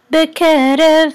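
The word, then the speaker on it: בְּקֶרֶב: So this is bekerev. So the accent is on ke, bekerev, and this is a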